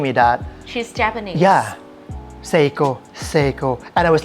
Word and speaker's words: Seiko: What's the correct In Thai, we call Saiko. Saiko, but in Japanese, we call Seiko.